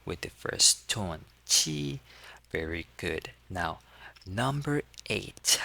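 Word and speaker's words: 七: And the the Q sound has a sound like ch sound and we pronounce it as chi with the first tone chi.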